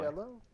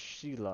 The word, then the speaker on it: Sheila: Anyway, Shello? I think it's pronounced Sheila. Or, oh, Sheila. Yeah, Sheila Didn't see the I.